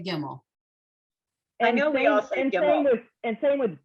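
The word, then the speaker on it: גימל: you did okay okay should we actually technically be saying gimel um well that's how it's spelled but she's right we all say gimmel i know and same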